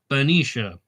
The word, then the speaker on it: Benicia: But Benicia is correct. Well, all right, I'm going to try that because it's Benicia, right?